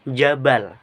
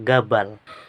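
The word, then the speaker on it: جبل: Bunyi Jim di fusha dilafalkan ee jim atau j. Namun dalam dialek Mesir diucapkan agim atau menggunakan G. Contoh jabal dalam ee dialek ee amiah Mesir itu menjadi ee gabal.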